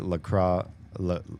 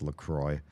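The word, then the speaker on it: LaCroix: Kind of appreciate Lacro. Oh, sorry. They're pronounced Lroy.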